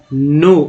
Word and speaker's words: know: K यहाँ silent है इसलिए नो पढ़ते, नो दैट पेपर।